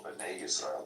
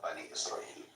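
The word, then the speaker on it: בני ישראל: B'nai Israel, not Bani Israel.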